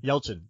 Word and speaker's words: Yelchin: Yelchin.